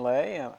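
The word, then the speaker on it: Lé: All right, my name is Lay. I'm a MD. Last name is spelled L-E with an accent above the E.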